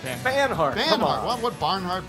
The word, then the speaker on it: Banhart: Devendra Barnhart. How do you say it now? Yeah, that's right. Banhart.